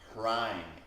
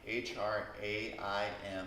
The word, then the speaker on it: Hraim: And here the mantra is like it was before, Hraim, H-R-A-I-M. Try saying that. Hraim. Hraim. Rhymes with rhyme.